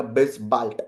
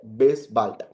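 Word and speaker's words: bis bald: हम लोग डिस्कस करेंगे अगर किसी वर्ड को डी से एंड करते हैं तो आपका ट साउंड होगा तो ये हो जाएगा बेस बाल्ट बेस बाल्ट इफ you want to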